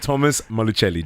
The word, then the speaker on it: Thomas Malucelli: screens on The Bachelor, I feel, my man, Thomas Malucelli. Did I pronounce it right?